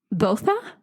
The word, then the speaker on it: Botha: differently, but this is how I found the pronunciation to be, is Botha.